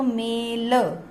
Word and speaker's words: मैल: ऐसे ही म पे एक मात्रा है तो मेल, लेकिन दो मात्राएं बन गई तो क्या बनेगा? मैल, मेल मैल, मेल मैल। अगले शब्द पर आते हैं, म ए ल आ, मेला।